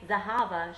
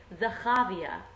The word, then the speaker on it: Zahava: But this teacher couldn't say Zahava, she could only say Zahavia, which was really weird because that's the Ch, and it's a misplaced Ch.